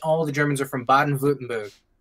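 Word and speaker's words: Baden-Württemberg: the Germans are from bad and vlutenberg and that's how you say it it's fun to say when I first read it I was like Baden wurtenberg or something but it's Bob yeah you know people call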